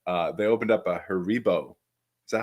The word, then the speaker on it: Haribo: center here but uh they opened up a Haribo is that how you pronounce that Haribo yes um and those are the ones where